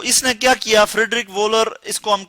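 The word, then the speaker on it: Wöhler: तो इसने क्या किया, फ्रेडरिक वोलर, इसको हम प्रोनाउंस कर सकते हैं फ्रेडरिक वोलर।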